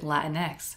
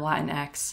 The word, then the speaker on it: Latinx: as you can hear i choose to pronounce it latinx because the first time i saw it that's how i pronounced it in my head and it sounded like some kind of new latino superhero latinx and that's just how i've always chosen to pronounce it i don't